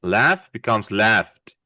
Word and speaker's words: laughed: Laugh becomes laughed, as if we're saying a T, putting a T at the end.